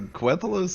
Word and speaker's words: Quthalos: Yeah, how okay, the F so- do you pronounce Quthalos? So Quthalos is how I say it, but there or Congrats.